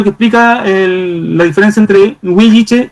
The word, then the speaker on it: huilliche: La verdad es que ni siquiera no se pronuncia ni huilliche ni huiliche, sino que es intermedio, es huilliche, con y, huilliche.